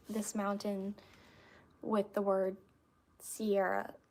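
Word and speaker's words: Siarah: Sierra as in like Sarah with an I in it. So, it's pronounced like Sierra, but it's spelled S I A R A H.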